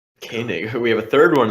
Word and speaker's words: Koenig: Who's Yeah, Koenig has. Oh, see, now I'm saying it wrong. Koenig.